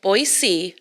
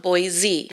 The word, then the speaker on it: Boise: And let's remember, it's pronounced Boise, not Boise.